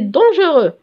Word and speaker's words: dangereux: C'est dangereux. Dangereux, فيها X. بصح ما نطقوهاش, je n'entends rien.